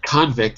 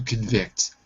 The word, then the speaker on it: convict: So, it's not convict. It's a It's to convict. To convict. So, I gave you the wrong pronunciation earlier, but that's because I didn't know if it was a noun or a verb. That's true. So, I'm I'm innocent. I'm innocent of this crime. To convict, second syllable.